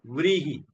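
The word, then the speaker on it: vrīhi: One letter only one a syllable vhi. V R I I wizard vi capital H.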